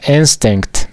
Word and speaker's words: instinct: Pero la pronunciación sería instinct, porque esta letra se pronuncia como E.